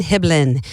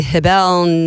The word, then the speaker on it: Hiblin: Hiblin, I didn't know how to pronounce that because phonedically it would be Hibell. It just didn't roll off the tongue very naturally. And he said just pretend like you're dribbling a basketball. It's dribbling Hiblin.